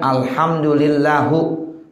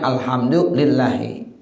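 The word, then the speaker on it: الحمد لله: Contohnya alhamdulillahu, ya itu salah. Ya mestinya alhamdulillahi.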